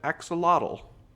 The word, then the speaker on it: axolotl: been added is something called how do i pronounce that axolotl that's how i'm gonna pronounce that axolotl is